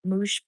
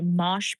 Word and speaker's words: mosh: It's the moosh Okay, mosh pits. I remember that one from Cat. She said say it like Josh Pit.